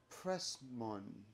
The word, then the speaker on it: Pressman: it right because I always say your last name wrong Pressman prman prman perfect you got it perfect you